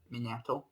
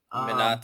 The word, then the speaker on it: Minato: When it though comes to the whole debate between Gollum and Minato, sorry, didn't pronounce that right. Minato.